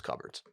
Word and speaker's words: cupboard: estate listings are people's cupboards. Y'all got to get your cupboards right. It's actually pronounced cupboard.